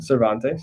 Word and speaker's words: Cervantes: and thinking for yourself here's what cervantes which i'm sure i said wrong famous spanish novelist says about courage you wrote don quixote nice so how would you say his name cervantes yes he who loses wealth